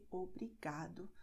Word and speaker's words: obrigado: Because many words have these endings, so they are going to be stressed in the second to last syllable. Obrigada, tarde, obrigado.